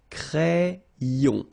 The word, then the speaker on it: crayon: So like if you would have I here, A-I, cré, and then another E here, ion. Crayon.